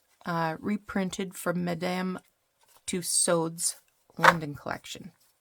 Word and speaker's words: Tussaud's: This one says reprinted from Madame Tussaud's London collection. I'm not sure why I pronounced that with a French pronunciation, but because it's Madame Tussauds in England, right?